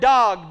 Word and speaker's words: dag: in the Hebrew it's the word dog d-a-g and you pronounce it d-a-w-g like what's up dog amen it's just using